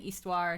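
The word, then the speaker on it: Histoire: to find iste yeah I could have sworn they were saying histian history earlier now they're saying istuar now the age is silent all right welcome to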